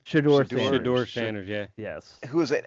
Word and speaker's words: Shedeur Sanders: Is that how you pronounce his name? Shedeur Sanders, yeah.